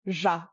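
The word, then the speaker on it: ར: The next one people struggle with is ja, because it's often transcribed as R, but it does not behave like an English R at all. There are two ways to pronounce this sound. The first is ja, ja. This is similar to the J in French, like je suis Amalia, or the S in pleasure.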